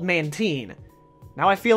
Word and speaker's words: Mantine: feel right at all Mantine Mantine it's called man teen now I feel like